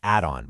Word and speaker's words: Adon: So to cut through all that noise and confusion, our team at Adon Estates, that's pronounced Adon, by the way, we did a major deep dive.